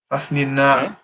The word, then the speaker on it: فصلنا: Is it لني, yeah? When you say it like that, I'm guessing it's not. Well, there's a noon and an alif. Is that how we pronounce the noon and the alif? Lini? لا. No. فصلنا.